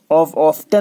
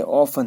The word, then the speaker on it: often: टी को silent पढ़ना है। ऑफ्टन नहीं है, ऑफन है, ऑफन, टी साइलेंट पूरा में।